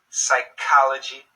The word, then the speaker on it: psychology: sound chameleon scholar chemistry psychology psychic these Greek originating words usually have a K sound when spoken in English okay does that help